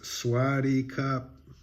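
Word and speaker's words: สวัสดีครับ: greeting you know if you're a man it's swaty cop even if you don't say it right which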